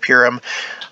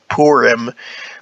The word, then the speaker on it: Purim: She was like, well, it's pronounced Purim. Which I'm sure that's true, but I've heard it pronounced Purim as well, and I don't feel comfortable saying Purim, just because that sounds. I prefer Purim.